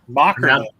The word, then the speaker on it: Mockerman: Mockerman. Pronounce it like it's a K.